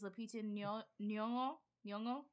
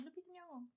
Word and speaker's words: Lupita Nyong'o: All right, best supporting actress, which made me super happy, is Lupita Nyong'o. Right? I said it right. I did. We watched. High five. Lupita Nyong'o.